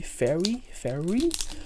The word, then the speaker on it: fairy: The fairy set, not furry, fairy. So pronouncing the R is sometimes hard, especially for an Asian like me.